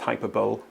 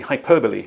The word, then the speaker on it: hyperbole: meaningless hyperb yes so that missing word looks as though it should be pronounced hyperb but it is actually hyperbole which means something like